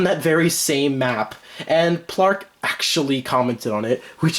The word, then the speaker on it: PL4RK: PL4RK. That's how I used to say his name, but it's Plark.